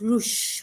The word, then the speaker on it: Rouge: One little dragon in particular, named Rouge, pronounced Rouge with SH at the end, which means French for red, came from an ancient family with the strongest magical connection in the realm.